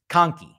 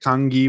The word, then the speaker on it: kanki: you say it kanki how do you spell it like it's it's like i think it's k-a-h-n-k-i like some some spelling you're saying not kangi with a g correct it's a k not a g yeah so so that